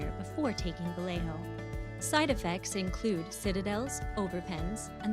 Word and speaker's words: Vallejo: All right, that was Vallejo, not Vallejo. Vallejo, because we can only pronounce it half correct in American English.